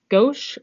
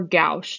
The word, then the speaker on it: gauche: The other two staggered conformations, we can refer to those by the term gauche or gauche, depending upon your preferred pronunciation of this, G-A-U-C-H-E.